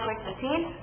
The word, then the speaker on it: Qwick15: I know it's spelled wrong. That name was already taken, so I added the W instead of U. Pronounce it the same way.